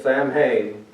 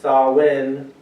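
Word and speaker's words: Samhain: To understand the full picture, we must journey back to the ancient world where Halloween, originally known as Sam Hayne, had a very different meaning.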